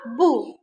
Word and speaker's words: boue: La boue. La boue. Here we are pronouncing the letter O-U. We are not pronouncing the letter E.